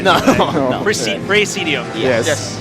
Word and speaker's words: Praesedium: show us a bit of their game called Praesedium. Is that how I pronounce it? Yes, that's right. I didn't butcher it, right? No. No. Praesedium. Yes. Praesedium.